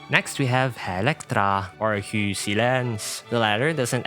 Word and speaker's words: Electra: Once more for her real name, Electra.